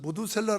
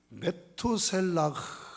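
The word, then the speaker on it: 므두셀라: 낳고 이름을 증거 아닙니까 사실은 모두 셀러 라는 것이 우리 그냥 어법으로 표기한 거지만 히브리어 발음 그대로 하면 매 투 셀라 라는 말이에요 이 두 달 합니다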